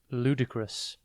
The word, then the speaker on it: ludicrous: one word at a time today's word is ludicrous it is pronounced l d crus and spelled l u d i c r o u s think ludd l u d then I C